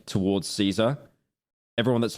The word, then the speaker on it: Caesar: an incel like towards Caesar. Everyone that's like a parasocial s towards him, they call him Kaisar, the original pronunciation. They don't call him Caesar.